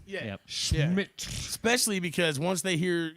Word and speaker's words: Schmidt: reason I say it like that is so people don't think it's Smith. Oh, okay. You got to put the Schmidt in it.